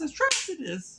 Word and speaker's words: Atrocitus: You still don't know how to fucking pronounce his name. When they say his name, it's Atrocitus.